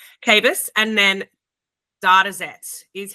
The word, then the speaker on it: Kabus: Uh, I guess for the purposes of everyone listening, I'm here with uh Cabus. Cavis, pronounce it right. Cavis and then dataet is how I pronounce dataet.